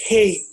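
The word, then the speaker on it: ה: Jadi angka 5 itu pronunciation-nya, bahasa Ibrani-nya itu Hei.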